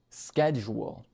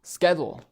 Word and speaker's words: schedule: For example, he said the word schedule, but pronounced it schedule. I mean, I can say that in a perfect American accent, schedule. Okay, you have the accent perfect, but if you don't pronounce the word right, it can't be understood.